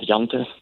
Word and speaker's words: Jante: How do you pronounce it? Law of Jante.